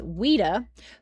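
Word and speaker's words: Ouida: Some researchers believe the image may have been of the writer and activist Weda whose name is spelled o ui da.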